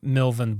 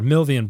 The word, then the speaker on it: Milvian: Uh because the there's there's the famous legend of the uh the battle of uh of uh Milvin Bridge uh or Milvian Bridge. I am just pronouncing everything wrong today.